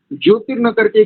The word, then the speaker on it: ज्योतिर्नीको: केवल एक स्थान पर जब आप करते हैं ना शन्नो अग्निर्ज्योतिर्नीको, ज्योतिर न करके क्या करेंगे, ज्योतिर ज्योतिरनीको जी, ज्योतिरनीको। दोनों दीर्घ है। नीको दीर्घ का उच्चारण लगभग 2 सेकंड में करना है।